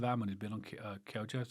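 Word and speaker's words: Kyogo: Most of our money has been on Kyojo. So, it's Kyo. I need to get that right because a few people picked me up in the last podcast. I call him Kyojo.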